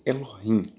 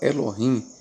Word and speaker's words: Elohim: Então na palavra Elohim nós temos três vogais pronunciadas. E ló ou a outra o e rim i. Então nós temos três vogais e o i. na palavra Elohim.